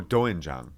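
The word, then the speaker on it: 된장: I don't know how to pronounce this. Doenjang. Oh, doenjang.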